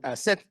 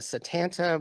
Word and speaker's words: Satanta: with you um and set sometimes it's written a Satanta but that's not how you pronounce set settin means white bear um and this was